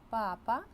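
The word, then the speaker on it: papa: наголосу іспанською буде летильде якщо стоїть графічний наголос ми читаємо слово з наголосом на цій літері на ці голосній і крім того дивіться Тут іще міняється значення Ель папа - це тато і папа Це Папа Римський Латинській Америці кажуть ла-папа на картоплю але там Артик інший тут же різниця у наголосі ельбаба тато і є папа Папа Римський цікава тема слова грецького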